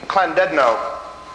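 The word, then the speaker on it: Llandudno: little l that in in in welsh that's pronounced as a kl claw so that would be clandedino and uh and this is one of the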